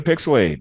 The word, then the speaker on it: PixelHate: that was welcome to pixel 8 where the H is silent but the hate is very very real I am your lovely